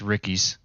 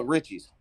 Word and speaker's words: Ritchie's: there on 251 Alex please don't tell me it's Ricky's Richie no Richie's oh poor Alex man oh I think I said Ricky and I've been saying it wrong for six weeks um J Ray's jerky